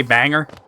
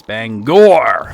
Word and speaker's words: Bangor: You could tell you're not from Bangor by how you pronounce it. Do people, like, say banger? Ah, yeah, banger. Dude, where the hell is a... This is the one that always, like, stymies me. It's Bangor! Okay, here it is.